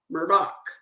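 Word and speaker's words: Murdaugh: very interesting that elik so down in the South they pronounce Alex as Alec like e-l-i-c-k elec and they pronounce Murdoch Murdock so elik elix phone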